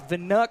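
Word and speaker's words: Wnuk: And it's Vanuk, spelled with a W. W-N-U-K.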